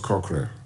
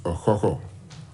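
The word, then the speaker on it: Okukor: to him to receive the bronze cochlear which actually is rightly pronounced a coco but you know we don't mind but the past two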